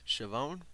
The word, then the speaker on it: Schiavone: And after the match, Britt Baker stuck around and made fun of Tony Schiavone. Did I pronounce that right?